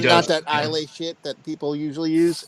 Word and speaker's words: Islay: that Islay shit that people usually use. Oh, And the Islay.